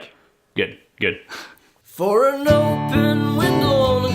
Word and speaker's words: Kveik: How do you pronounce Kveik. it, Max? Kveik, right? Kveik. Good.